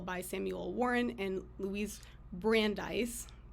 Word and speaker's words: Brandeis: was an article by Samuel Warren and Louise Brandeis correct me if I'm I'm pronouncing that correctly because I have read it